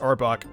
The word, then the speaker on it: Arbok: that was how it's pronounced but it's actually pronounced arbok no freaking crap not really a Pokemon but